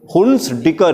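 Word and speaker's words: Hunsdiecker: बोले मेरे साथ प्रोनाउंस करिए, हुन्स-डिकर रिएक्शन.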